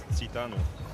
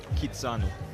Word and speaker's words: Kitanu: It's almost as way off of my initial pronunciation of Titanu. So, sorry, Alexandra. Alexandra Elena Kitanu stand corrected.